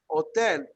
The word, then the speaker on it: hotel: in english in spanish hotel we write the h but we never pronounce it however how many of